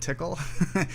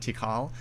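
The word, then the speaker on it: TiHKAL: people pronounce them differently some people say pickle and tickle some people say pikal and tikal i sort of suspect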